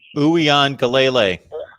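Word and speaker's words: Uiagalelei: Uyan Galele. That's how you pronounce his last name.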